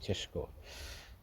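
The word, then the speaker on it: Šeško: to Elvis it's um it's actually cesco's chess guys um I must say that's the real pronunciation If You Are Slavic cheshko and uh that is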